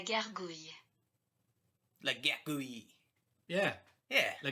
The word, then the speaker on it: gargouille: And this is what it sounds like. La gargouille.